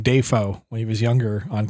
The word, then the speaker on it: Dafoe: He the proper pronunciation of his last name is Defoe. Oh, I did not know that. But Defoe just worked better.